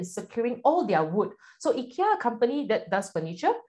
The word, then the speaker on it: IKEA: Okay, anyway, let's call it IKEA, the Malaysian way of pronouncing it, okay?